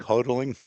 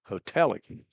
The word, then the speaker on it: Hotelling: Oh, you don't call him Alec Hodling? What is it? Hoteling Hotelling. Okay. Well, I've been mispronouncing his name.